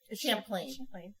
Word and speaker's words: Champlain: Champlain.